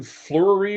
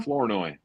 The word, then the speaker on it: Flournoy: I Laundry can't pronounce this guy's name. Help me. Who's 19? Fleury or something like that? How you say his name, gentlemen? Flournoy. Yeah, that guy. Flournoy.